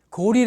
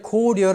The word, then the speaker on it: 고려: 갖다가 아침이 빛날 마찬가지로 고리 라는 것도 나라 이름으로 평성 으로 읽어야 되는 고리 라고 읽어야 되는데 만일 고려 라고 하면 아름답다는 뜻이래요 그리고 수려 가 되요 아 강사의 수려하다 할